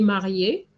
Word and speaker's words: mariée: would say elle est mariée. Okay, the same way, Simone, you put mariée, same pronunciation with the ER.